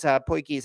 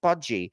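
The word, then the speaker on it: potjie: because like some people, I was pronouncing it Podgy because that's what it looks like.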